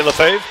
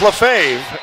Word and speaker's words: Lefebvre: So Charles Lefebvre is on the mound. Left side. Not say the B. The B is not pronounced. Left side, V-R-E. No B. Lefebvre.